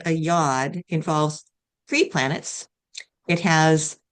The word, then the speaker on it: yod: Yeah, yod, yod.